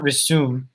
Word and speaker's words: resume: american english at least we we make the z sound instead of the s so it's not resume uh at least in american english so like i don't